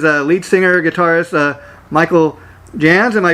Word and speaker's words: Jahnz: guest today is a lead singer guitarist michael jans am i pronouncing your name right michael yes it is